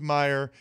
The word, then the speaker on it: Mirer: So why is that not pronounced Mior? Why don't you get rid of the R's there? Well, it's Mirer because there's two vineyards that